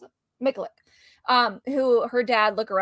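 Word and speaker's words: Miculek: How do you pronounce it? Mikulik.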